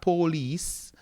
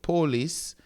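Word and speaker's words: πόλις: here, then you have polis, not police, but polis, which is city, which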